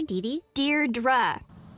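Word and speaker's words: Deirdre: it or something hi Dei dear dra I know it's got that tricky second syllable but I figured it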